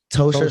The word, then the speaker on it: Ptosha: Tosha Story. Go check out Miss Tosha. P is silent.